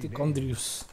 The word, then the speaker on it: Tichondrius: Es verdad, se me había olvidado que la C y la H la pronuncian como K aquí en este juego.